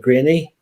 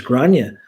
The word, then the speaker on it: Grania: going to speak with Granny. I'm like, who? I want to speak with Granny. I says, can you spell that for me? So she spelled me, it was Grania.